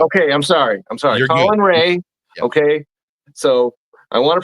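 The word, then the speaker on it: Colin Rea: He's a former Brewer, so it's Colin Colin Ray. I do know that. Okay. I'm sorry. I'm sorry. Colin Ray.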